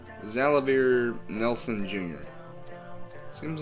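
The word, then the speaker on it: Xalavier: was actually confirmed that this guy's name is pronounced zalavir zalavir nelson jr seems like a nice guy additional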